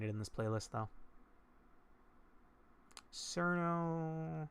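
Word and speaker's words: Cirno: Cerno. It's apparently Chiruno, but I'm gonna pronounce it as Cerno because I've pronounced it that way for 15 years.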